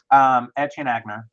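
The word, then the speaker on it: Etienne Aigner: Etienne Agner.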